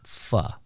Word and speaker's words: pho: I said, "Fo." He's like, "Yeah, that's what I thought, too." But it's called actually fa. F is in fan. And the o is pronounced like uh in butter. So fu.